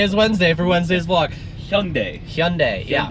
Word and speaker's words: Hyundai: So, what rhymes with Sunday? It is Hyundai.